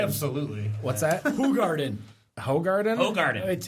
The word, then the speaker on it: Hoegaarden: It's actually Hoegaarden. Hoegaarden? Okay. How's it spelled? It's spelled one, but if you look at the label, it's spelled the phonetics on the label are WHO. But I'm thinking in Dutch, yeah, so never mind.